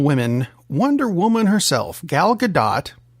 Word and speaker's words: Gadot: Wonder Woman herself gal gadot because you pronounced the t had some comments about the passing of dr.